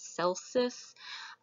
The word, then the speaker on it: Celsus: with that Cal says sometimes I'll hear him pronounce Celsus I prefer the hard see that's how it works in Latin the day medic inna